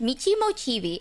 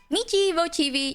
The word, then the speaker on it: Michi Mochievee: streams hi everyone so my name is pronounced Mei mochii I know some people were wondering how to pronounce it it's Mei mochii you can call me